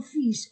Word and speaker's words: fils: il irait enchaînement il irait et avec son fils. O fils son fils. Je prononce s je ne prononce pas elle.